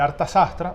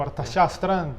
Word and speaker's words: Arthashastra: El libro se llama El Arthashastra o Arthashastra, puedes pronunciar de cualquiera de las 2 maneras transliterado del castellano.